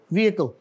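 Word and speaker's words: vehicle: और आगे जो है, इसमें क्या लेटर, कौन सा लेटर साइलेंट है? एच साइलेंट है इसमें, व्हीकल।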